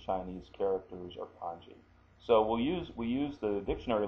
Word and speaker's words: kanji: Okay, so now I have this, and the pronunciation is ka-n-ji, kanji, kanji.